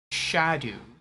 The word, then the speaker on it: Scadu: Jan says, in real life, Skadu would have been pronounced like Shadu. But in game, it isn't pronounced correctly either. Ah. Scrimmy says, Skadu, exactly as it's written, is the best way to say it, though.